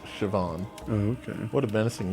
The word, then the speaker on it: Siobhan: Oh, Siobhan. Siobhan. It's pronounced Siobhan.